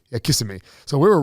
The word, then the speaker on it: Kissimmee: Kissimmee. Yeah, Kissimmee.